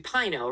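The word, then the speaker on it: RINO: that I guess I it should be Pino right rhymes with Rhino Republican and name only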